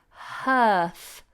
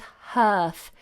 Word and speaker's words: hearth: Francesca, Anna, could you please pronounce earth and hearth? Earth and hearth. They're both the same. It's just you have an additional aspirate sound at the beginning here.